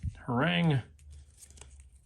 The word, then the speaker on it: Harang: They're all going be sticking Harang.